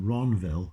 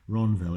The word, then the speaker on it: Ranville: And Ronville Cemetery is cemetery. Ronville is spelled Ranville.